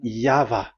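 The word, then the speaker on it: Yahweh: that is the phonms the pronunciation pronunciation is equal V. It is V. Y H VH. So it is Yava.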